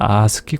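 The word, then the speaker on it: ASCII: 아스키 코드라고 돼 있습니다 이걸 갖다 읽을 때는요 아스키 코드라고 읽습니다 아메리칸 스탠더드 코드 그거의 약자입니다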